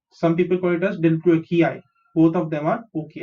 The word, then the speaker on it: delbrueckii: DL is del, BRU is brew, EC is ek, KI is key, and last में जो I है वो उसको आई ही प्रोनाउंस करेंगे. सो डेल ब्रू एक्की आई, डेल ब्रू एक्की आई.